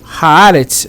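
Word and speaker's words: הארץ: Porque quando está com artigo, Haaretz, o Aleph muda de pronúncia.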